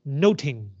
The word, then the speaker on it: nothing: The word nothing in 16th century English is pronounced noting.